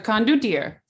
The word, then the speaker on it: condottiere: I don't know how to pronounce it. It's right next. It's in between Guild and Logia, but Contorte. The condottiere.